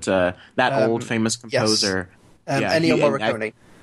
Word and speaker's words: Ennio Morricone: It's Ennio Morricone or something like that. Something like, I can't pronounce the name properly, probably, but that old famous composer. Yes. Ennio Morricone. Ennio Morricone, there you go.